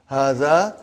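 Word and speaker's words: هٰذَا: See, it is pronounced like hada. But this alif is not written.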